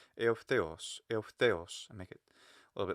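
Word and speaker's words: εὐθέως: Sometimes I jump up a little just to make sure people can hear, hey, that's the accented syllable. That's the stressed also syllable. Eutheos.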